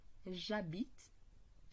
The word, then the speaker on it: j'habite: Ele começa por um H mudo. Neste caso, o je vai sofrer também uma elision e vamos pronunciar diretamente o je com a vogal. J'habite, tu habites, il habite,